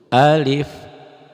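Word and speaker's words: ألف: Alif dibacanya alif aja pendek, jangan alif, jangan alif, jangan alif biasa aja. Ada yang baca suka alif, jangan, A-nya pendek aja. Alif, alif, alif, lam, mim.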